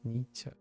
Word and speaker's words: Nietzsche: Nietzsche.